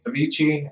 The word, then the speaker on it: Avicii: oh yes is that is that how you pronounce the name Avicii uh yeah 100 certain like that's how I've